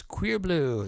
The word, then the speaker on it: Cuirbleu: If you like some sexy electronica with a female lead singer, that is Queer Blue. That's spelled CUIRBLEU.